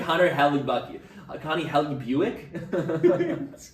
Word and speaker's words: Hellebuyck: It's Connor, but the last name is spelled Hellebuyck. This is Connor Hellbucky. No, I'm just kidding. It's like Connor Hellebucky.